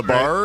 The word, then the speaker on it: Labar: Labar. Right? Is that how you say it? Was that? Yep. Great. See, perfect.